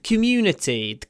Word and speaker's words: community: А the community не надо, потому что community здесь это безударный к, потому что ударение на мю.